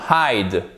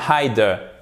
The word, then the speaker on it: hide: Donc silent E. Là c'est facile aussi parce qu'on l'entend, on a l'impression qu'on l'entend, mais en fait on ne le prononce pas. Hide et pas hide. C'est là où se fait la différence. Ce n'est pas de l'allemand, ok? Donc on ne prononce pas le E à la fin.